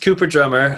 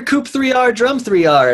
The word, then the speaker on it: Coop3rdrumm3r: landing page with the threes so uh it's pronounced cooper drummer uh although many people come up to me they're like oh hey you're you're coop 3r drum 3r and i'm like well you know that's close